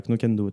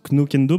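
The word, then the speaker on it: Knockando: Alors je le prononce Knokendo parce que je le prononce comme ça s'écrit. Alors je pense pas qu'on prononce le K. C'est Knokando, je crois.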